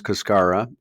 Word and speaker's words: cascara: know what cascara is, or as we pronounce it here in the U.S., cascara.